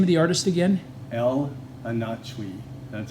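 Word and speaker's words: El Anatsui: and what's the name of the artist again El anach that's how it's pronounced e l a n a TS UI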